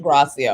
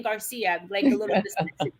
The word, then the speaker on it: Gracia: right yeah that's gracia or or whatever i have been i have been saying your name wrong the whole time thank you i've been saying garcia dr gracia thank you for that